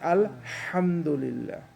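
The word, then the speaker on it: الحمد لله: aha you have to have that sound that whispering sound has to come up like al hamdulillah we say thank to god we said al hamdu Linda see their house ound because there is another ha later I will see it doesn't make that whispering sound you mentioned that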